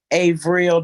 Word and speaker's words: Avril: Avril, the B is silent.